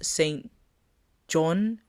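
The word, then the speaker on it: SAINt JHN: Next song, Roses St. John, but is spelled Jhn.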